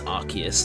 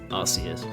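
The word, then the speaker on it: Arceus: The um the ability is called like RKS system, which is a confirmation that it's Archus, not Arus.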